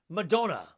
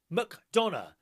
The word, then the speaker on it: McDonough: And Simon says the name Marcella McDonough is pronounced Madonna. McDonough. It's an Irish name, and don't forget my birthday, Saturday.